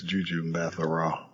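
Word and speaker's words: Gugu Mbatha-Raw: completely butcher her name, Gugu Matha-Raw. And then Yorkie, what's that? Do you know how to say it? Yeah, I think it's Juju Matha-Raw.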